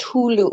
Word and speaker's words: Hulu: you add your that i could never say it it's pronounced hulu hulu thank you yeah my